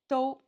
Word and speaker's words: 都: Do. The pronunciation. First tone.